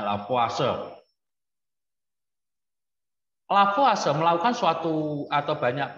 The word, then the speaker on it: Lavoisier: Orang Prancis ya, bacanya Lavoisier.